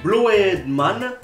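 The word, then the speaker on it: Blödmann: Le O tréma ensuite se prononce comme un OE, comme oeil. Par exemple, parce qu'on est loin d'avoir terminé la liste, on prononce Blowed Man qui veut dire connard.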